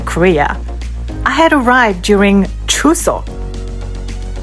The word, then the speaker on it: Chuseok: I had arrived during Chuseok. Pronounced Choo-seok. Two syllables that carry 2,000 years of meaning.